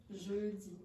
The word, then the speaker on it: jeudi: Jeudi. Now look at Laurie's lips. Again? Jeudi. Now, that sound doesn't really exist in English, but it's close.